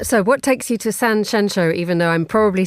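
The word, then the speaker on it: Sanxenxo: Uh so what takes you to San Sheno, even though I'm probably saying it wrong, you're not saying it wrong.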